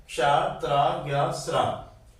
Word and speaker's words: त्र: और ये त्रा, इसमें ता और रा 2 अक्षरों का मेल होता है फिर इसका उच्चारण होता है त्र, त, र, त्र।